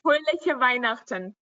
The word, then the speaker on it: Fröhliche Weihnachten: Fröhliche Weihnachten.